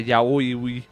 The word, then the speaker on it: yaoi: A yaoi, which is how you say that word.